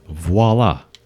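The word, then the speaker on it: voilà: privacy aola it's open see everyone that's how it's spelled it's not and voila it's voila geez some people you're done already you're pretty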